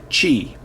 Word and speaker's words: Qi: got a q i that is actually pronounced chi and i've got a